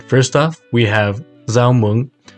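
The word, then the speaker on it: rau muống: first off we have zao mung pronounced with a z sound in the north and zhao with more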